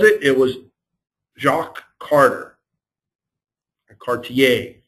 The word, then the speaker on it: Cartier: Cartier, I'm going to do the French pronunciation.